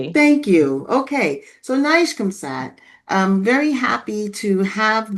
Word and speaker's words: NIGCOMSAT: Um oh yes pronounced correctly. Thank you. Okay. So, Nishkamsad um very happy to have them here um